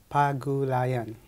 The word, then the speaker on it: Pagulayan: Mark Pagulayan. I know I'm having a tough time with that. How would you like to say it more correctly than myself? Barry, it is pronounced as Pagulayan. It's not that difficult, is it?